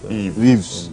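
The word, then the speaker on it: Yves: And then also, Ives. You got my name wrong. My name is Eve.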